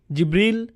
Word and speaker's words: জিবরীল: উচ্চারণ করেন তার নাম জিবরীল জিব্রাইল জিব্রাইল জিব্রাইল জিবরীল এই পাঁচ ভাবে তার নাম উচ্চারণ করা হয় আর এটা বিভিন্ন কিরাতের